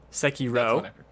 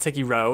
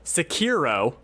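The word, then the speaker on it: Sekiro: the game is well here's the pronunciations all except okay our our sekito psyche ro I'll accept that take ero it's not it's fine it's Americanized sorry bro I will not accept Sakhi ro which I just want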